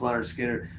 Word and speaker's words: Lynyrd Skynyrd: for that first record uh pronounced Leonard Skinner those they it was